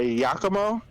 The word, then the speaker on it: Yakumo: Yakumo?